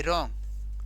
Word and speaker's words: wrong: डब्ल्यू के बाद किसका प्रयोग हुआ, डब्ल्यू के बाद, यानी डब्ल्यू के बाद आर आने पर डब्ल्यू क्या हो जाएगा, एकदम से साइलेंट हो जाएगा।